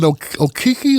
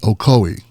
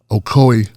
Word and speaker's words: Ocoee: people were killed in okiki Oki that's actually pronounced Ocoee Ocoee Florida because they want us